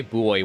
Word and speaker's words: buoy: I think I said I always say buoy weird. Well, I say it right that time, but usually I don't.